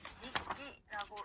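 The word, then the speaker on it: にっき: 예를 들어서 일본어 단어 일기를 읽을 때는요, 니끼라고 읽는데요. 자, 키는 타행이죠. 타행 앞에 왔기 때문에 기역 받침처럼 소리가 납니다.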